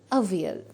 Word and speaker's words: Avial: And it is only pronounced as Avial.